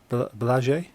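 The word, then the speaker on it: Błażej: office at work, and his Polish name I think is supposed to be pronounced Blaže, which in English it's kind of written as Blaze J. So he's known to everyone in the UK as just Blaze because that's how he's written, but his actual Polish pronunciation is Blaže.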